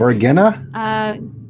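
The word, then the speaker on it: Varginha: Vargina?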